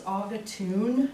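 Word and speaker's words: Agatunet: this yeah this is auga tune is what they say it's pretty it's spelled like the auger tunic but there's some really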